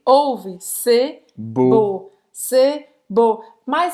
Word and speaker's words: beau: Porque o E-A-U em francês tem um som de O, que em português seria como um O com acento circunflexo.